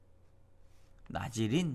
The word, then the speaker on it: 나실인: 나질인 뭐 이렇게도 발음을 하게 되는데, 거룩하게 된, 코마, 분리된.